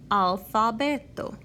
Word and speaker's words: alfabeto: It is also in the word alfabeto. You may notice that in English you say alphabet, and that second A in alphabet takes an sound. That doesn't happen in Esperanto. It's alfabeto.